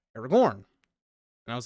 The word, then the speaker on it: Aragorn: But Jesse was like, yeah, it's pronounced Aragorn.